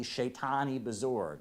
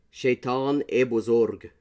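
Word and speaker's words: Shaytan-e Bozorg: It's Shaitan e Bezorg. Not E.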